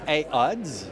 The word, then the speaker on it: Aodes: votre de votre marque jusqu'à maintenant on prononce a ODS a ODS le a est pour H terrain ODS c'est le manufacturier OK et ODS ouais